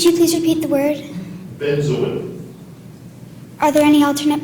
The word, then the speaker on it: benzoin: a c k n u c k spna benzin benzin would you please repeat the word benzin are there any alternate pronunciations there are Benz or benzo definition please it's a balsamic resin